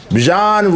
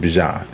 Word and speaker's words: Bijan: Bijan Robinson, I actually watched the video, 1,456 yards. He was telling people how to pronounce his name.